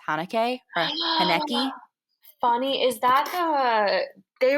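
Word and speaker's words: Haneke: funny games by michael i think it's pronounced hanukkah funny is that the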